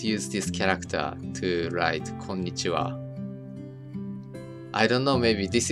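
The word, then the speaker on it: こんにちは: But, okay, so this Japanese character, it is pronounced as こんにちは, but this is spelled wrong.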